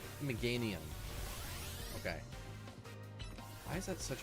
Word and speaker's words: Meganium: I always Meganium. Meganium. Okay. Why is that such a weird meanium?